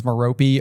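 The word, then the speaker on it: Merope: Um, also, I know that there's two pronunciations, Maropi or Marop. Marop just makes more sense to me. I think Maropi is how you're supposed to say it.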